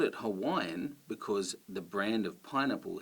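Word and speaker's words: Hawaiʻi: uh oh that stop that stop between the uh and the O is what you also do with Hawaii so it should be Hawaii so that is how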